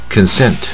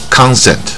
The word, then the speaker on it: consent: ， consent 啊，所以这边都是半卷舌 consent 啊，这边就不是 consent 或者 consent，所以英文里面 con 第一个音节它常念 con，卷舌的这个 con 啊，如果是第二个音节，它念肯啊，它就变